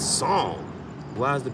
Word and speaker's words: Psalm: Because if I go read that good holy book, it's Psalm.